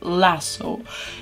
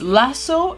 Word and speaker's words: lasso: By the way, I had a big problem with the word lasso. Internet says that in American pronunciation it's lasso and in British it's lasso.